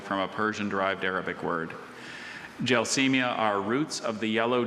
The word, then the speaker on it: Gelsemia: Gelsemia are roots of the yellow jessamine formerly used in medicine.